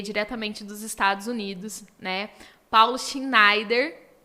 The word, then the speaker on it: Paulo Schneider: honra de receber diretamente dos Estados Unidos né Paulo Schneider pronunciei certo Paulo pronunciei certo Paulo Schneider corretamente então eu quero que você recebam com